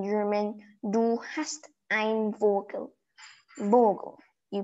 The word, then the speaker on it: Vogel: Vogel. You pronounce it as Vogel.